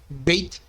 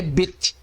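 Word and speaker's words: בית: Podemos encontrar em outras fontes seu nome como sendo bet, beit ou beite. Contudo, a pronúncia correta é bet, com o T final sendo aspirado, ok?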